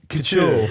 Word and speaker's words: couture: Like, and even so, you pronounce the clothing brand. It's couture.